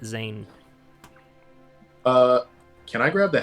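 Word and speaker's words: Dzaan: say that the the the d is silent so let's just call it zayn uh can i grab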